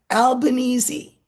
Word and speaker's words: Albanese: By the way, for my American viewers, this is how you say the guy's name. The new prime minister. It's uh, Albanese, right? Yes, it's an Italian name. It's yeah, but that's not how the Italians would say it, would it?